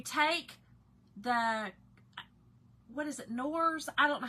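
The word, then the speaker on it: Knorr: But you take the, what is it, Nors? I don't know how, it's K-N-O-R-S. I feel like it's Nors. I feel like K is silent.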